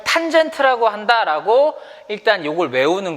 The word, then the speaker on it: tan: 얘를 뭐라고 읽냐면 탄젠트라고 읽어요.